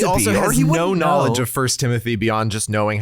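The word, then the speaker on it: 1 Timothy: reads the Bible note he pronounces it first Timothy but if he were like someone who had no idea about the Bible he would absolutely like Trump say one Timothy yeah that's a good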